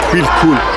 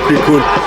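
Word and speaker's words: Cuicul: Day 3, and we are in Quicul, that's the pronunciation, Quicul, and it's the second largest ancient Roman city in Algeria.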